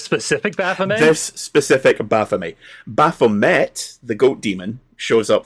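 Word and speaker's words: Baphomet: Um, Baffomet is of French origin, so Baffome is the correct pronunciation, but I I prefer Baffomet.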